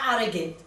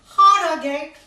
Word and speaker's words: Harrogate: at Harrogate. Oh, sorry, Harrogate Tyne. The third Tyne in Yorkshire, where the H is pronounced.